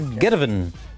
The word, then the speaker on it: Geteven: Because that's the title. It's one word. Geteven. There's no space in.